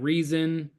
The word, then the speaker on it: RZN: fell into place like oh rzn or pronounce it reason which uh there was